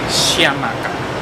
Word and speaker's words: Chiamaka: We were going to meet her because I saved the TikTok to make sure I pronounce her name. Chiamaka means God is beautiful. Exactly. Chiamaka.